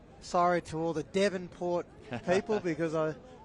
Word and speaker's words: Devonport: sorry to all the devonport people because i it's been made apparent to me that i was saying davenport in that first half it's your melbourne yeah